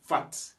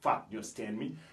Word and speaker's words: fat: après cela nous avons fat et on prononce toujours la dernière lettre en anglais on dit pas fa bah fat fat ça veut dire